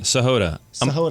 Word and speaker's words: Sahota: Sahod.